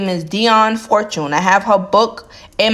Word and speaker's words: Dion Fortune: Her name is Dion Fortune.